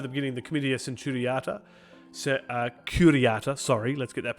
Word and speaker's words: Curiata: Now, we skipped over the beginning the Comitia Centuriata, Curiata, let's get that pronunciation correct, which is headed by the Pontifex Maximus and contains all the lictores curiati, or the lictors.